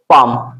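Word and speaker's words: palm: silent com तो यहां पर एल हमारा क्या साइलेंट है और भी ऐसे देख सकते हैं आप लोग पाम पी ए एल एम पाम पाम मीस क्या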